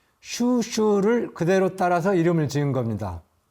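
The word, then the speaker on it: 蜀黍: 촉서의 중국식 발음인 슈슈를 그대로 따라서 이름을 지은 겁니다.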